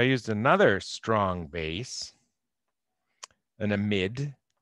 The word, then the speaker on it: amide: are isopropyls lithium diisopropyl and careful how you pronounce this it's an amid not an amide they're spelled the same but in a mid